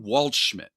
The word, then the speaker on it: Waldschmidt: There's a fellow named Ryan Waldschmidt. There we go. You know what that name rhymes with? Oh, you know what other Schmidt it rhymes with?